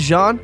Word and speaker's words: Jean: My name is Jean, spelled like Gene.